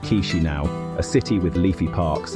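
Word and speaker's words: Chișinău: The capital is Chisinau, pronounced Chisinau, a city with leafy parks and smiling faces.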